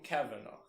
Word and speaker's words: Cavanagh: It's Tom Cavanagh. Tom Cavanagh. Tom Caveat? However you pronounce his Caveat?